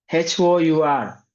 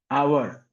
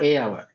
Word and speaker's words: hour: umpire m pronation is a umpire that's a pronunciation so that's h o u R hour. So O an hour, not a hour.